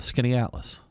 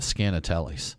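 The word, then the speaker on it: Skaneateles: And there's a lake there called Skinny Atlas. And there's also a town. And when we first moved there, talking about hard to pronounce northern words, there was we called it Scanatellis. And we were trying to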